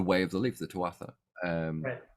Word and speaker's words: Tuatha: mispronounce it it's not tuatha it's tua you don't say the second part of that if you're pronouncing it in irish i think so yeah